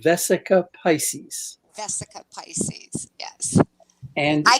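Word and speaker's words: Vesica Piscis: It's the two circles that cross the Vecca Pisces. Am I saying it wrong? I'm chopping it up. I'm all horrible with these words, Yes. guys. Say it correctly, please. It is called the Vesica Pisces.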